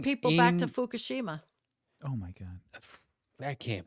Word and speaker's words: Fukushima: Listen, were ice they're moving skating people back to in- Fukushima.